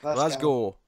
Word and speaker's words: Glasgow: Glasgow. Glasgow. Ignore the W. W is irrelevant. We don't bother with them.